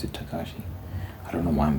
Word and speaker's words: Takeshi: Is it Takeshi, right? It's spelled Takeshi, but people pronounce it Takashi. I don't know why I'm getting hung up on that. It's not relevant. Yeah, it's spelled Takeshi's Castle, but I hear people pronounce it Takashi.